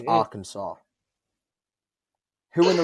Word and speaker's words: Arkansas: uh um kansas and arkansas that's how you pronounce arkansas yeah they they didn't want to be associated with kansas so they made their own pronunciation and they didn't want